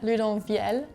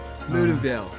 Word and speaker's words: Loudenvielle: so we're at Loudenvielle, actually, is how you say it.